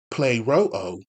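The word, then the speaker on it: πληρόω: But according to the Strong's Greek Concordance, that word fulfill, which is G4137, pronounced play-ro-o, means to carry into effect,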